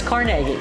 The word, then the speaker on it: Carnegie: Is it Carnegie or is it CargI? Are you ask Are you asking if you live in Carnegie? Uh-huh. Well, no, just Well, yeah. How do you pronounce it? It's CargI.